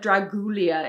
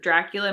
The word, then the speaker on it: Dracula: actor that played dracula mispronounced dracula he said dragulia instead of dracula my dad was like